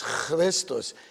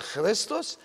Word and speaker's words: Christos: So it is a Greek word, and in the Greek it is pronounced Christos, but in English it is Christ with a K.